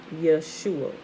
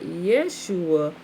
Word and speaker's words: Yeshua: In one place, Nehemiah chapter 8 verse 17, the name is spelled Yod Shin Ua An, Yeshua, just the Y apostrophe Shua, right?